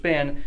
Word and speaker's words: Spann: to one of our teachers and coaches coach Spann let's talk a little bit about him and